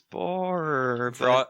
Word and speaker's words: Boehner: was bonus yeah yeah it's mostly pronounce Boehner and then that people go Jacob fuller and I'm like no it's boar you know you Nazis out